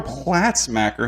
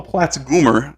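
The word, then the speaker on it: Platzgummer: You had a Sandro Platzmacher who was undrafted. Oh, Platzgoomer, I believe is how you pronounce it.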